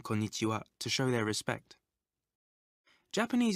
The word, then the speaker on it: konnichiwa: If you find it difficult to remember this new word, try saying corn itchy wow quickly.